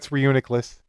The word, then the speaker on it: Reuniclus: It's Reuniclus.